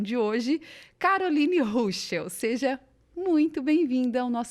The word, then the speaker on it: Ruschel: E a primeira coisa que a gente já quer saber é quem é a Carol Ruschel, né? É assim que pronuncia teu sobrenome.